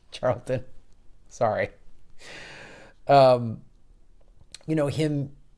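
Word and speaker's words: Chariton: um and I know I mispronounced this now I said Chambers I think it's Charlton sorry um you know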